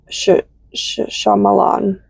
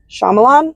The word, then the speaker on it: Shyamalan: I forget how to pronounce that director's name. Shyamalan. Shyamalan. Shyamala. M M something. Shyamalan.